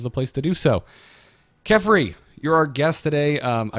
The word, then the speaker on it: Kephrii: Well, for our audio listeners, it's spelled Kephrii, or not F, sorry, Kephrii. Phonetically with an F.